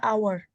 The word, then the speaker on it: hour: pakai e pakai an hour an hour apa a hour an hour ya an hour ya karena waktu dibaca itu bukan H tapi our h-nya hilang ini pas dibaca jadi kan suaranya tuh ya